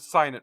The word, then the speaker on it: signet: Or is it signet ring? No, you had it right the first time. Okay, I just want to make sure, because it is spelled sign, and then with a Yeah, language is weird, especially common.